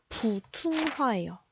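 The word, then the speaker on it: 普通话: 자, 이거를 중국어로 읽으면은 부퉁화예요. 부퉁화. 자, 중국어로 부퉁화라고 읽음.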